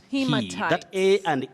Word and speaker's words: haematite: In fact, in geology, you say hematite. Hematite.